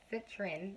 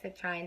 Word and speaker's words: citrine: And the reason why I talked about the other stone, which is citrin, I can't say this freaking word sometimes, or citrine, depending on how you pronounce it.